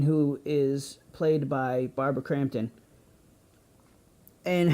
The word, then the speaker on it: Crampton: of the movie barbara Cranston was amazing in this movie I'm sorry crampton I yell keep saying it wrong I apologize the scenes